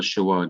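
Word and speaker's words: sheva: full marks because yes, the simple Shiva does sound like an E. It sounds like the E that is pronounced in the English word because, and also the E in the French word au revoir. The E is pronounced so fast that sometimes you cannot even hear it. And that is how the Shiva is pronounced. It's a fast E sound.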